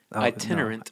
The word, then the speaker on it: Itinerant: I. Tin. Ten. Er. Er. Ent. Ent. Itinerant.